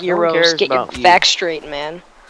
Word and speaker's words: gyro: It's spelled gyro, but it's pronounced Euros.